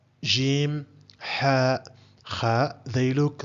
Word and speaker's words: ج: is the Arabic alphabet this is how it's pronounced Jim and this is its equivalent in English it's